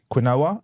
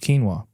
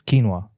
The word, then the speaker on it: quinoa: right so um I used to call it quinoa and then you know someone let me know that it's actually called quinoa to which what do you think the normal